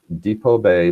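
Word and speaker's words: Depoe Bay: It's Depot Bay, it's spelled D-E-P-O-E, Bay.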